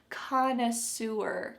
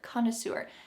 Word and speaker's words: connoisseur: Notice the English pronunciation here, connoisseur, connoisseur.